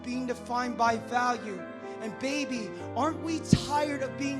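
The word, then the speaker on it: 八: locked in eight places number eight in chinese is pronounced ba it's considered the luckiest number because it sounds similar to the way we say good fortune so in a way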